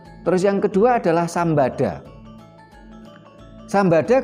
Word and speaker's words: Sambada: Sambada kalau dibaca O menjadi Sembodo.